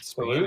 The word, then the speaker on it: salud: mean, if you speak Salute. Spanish, Yeah, salute, with a D on the end. salute. But Salute. you don't actually, I don't think you really pronounce the D so much.